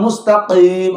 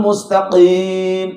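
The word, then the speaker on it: مستقيم: Jangan mustaqim. Ada yang begitu bacanya. Ihdinas siratal mustaqim. Taqim. Nggak boleh begitu. Jadi huruf qaf ini ada di pangkal lidah. Jadi qaf itu pangkal lidah.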